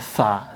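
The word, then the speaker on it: ث: Titik tiga di atas namanya tsa. Tsa. Sekali lagi bacanya tsa. Ini ujung lidah tempelkan ke gigi seri yang gigi kelinci itu di depan itu atas. Tsa. Tsa. Keluarkan anginnya.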